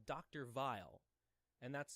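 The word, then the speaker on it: Weil: English to this but I think it's supposed to be German so the dove used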